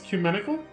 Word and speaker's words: ecumenical: Wait, really? The E is silent? It's ecumenical?